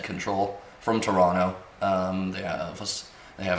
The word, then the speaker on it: CNTRL: that was control again cntrl is how they spell it said control from Toronto yeah they